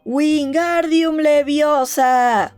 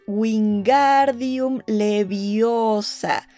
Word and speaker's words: Wingardium Leviosa: ¡Wingardium Leviosa! Y Hermione lo regaña. Lo estás diciendo mal. Es Wingardium Leviosa. Pronuncia Gar, más claro y más largo.